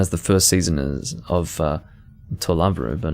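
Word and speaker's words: To Love-Ru: Of course, that's Toraburu, which is a play on words of the Japanese pronunciation of love, which is Rabu, so trouble. It's actually just trouble, but it reads very differently in English.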